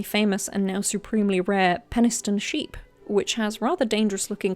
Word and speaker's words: Penistone: Heading north from Butthole Lane, which I tragically cannot street view and find that so frustrating, we find ourselves in Penistone. Okay, it's pronounced Peniston.